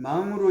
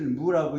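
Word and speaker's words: 亡: 불이요, 지자가 아니고 불여자 아니라 알지자가 아니고 같으려자 고쳐주시고 없을 망자를 여기는 망으로 읽지 않고 없을 무라고 읽습니다. 같이 무자와 같이 읽습니다.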